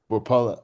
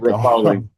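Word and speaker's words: Repole: I know Mike Rapella, I'm forgetting I'm saying his name wrong. Mike Rapoli. Rapella Rapoli. did.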